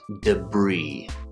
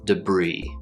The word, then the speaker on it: debris: Strangely enough, this word is pronounced debris. Debris. It's not debris or debris. The S is completely silent, and the I sounds like a long E.